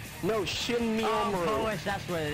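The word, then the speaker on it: Shinmyoumaru: I actually pronounced her name right. Shamimaru. No, Shinmi Omaru.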